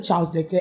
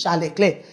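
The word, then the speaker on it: Charles Leclerc: They call him Charles Leair and his name is Charle Clair.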